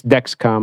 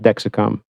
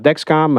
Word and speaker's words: Dexcom: Second thing, people said that when I talked about Dexcom, that I said Dexicom, which I listened back on the video and I did. It's a mistake. Okay, so it's Dexcom. I understand it's not Dexicom.